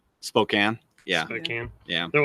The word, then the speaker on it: Spokane: not feasible for us I guess I pronounce Spokane wrong Spokane yeah I can yeah